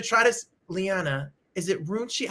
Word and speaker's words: Runcie: And I'm going to try to, Liana, is it Runcie? How do you say your last name? It's Runcie.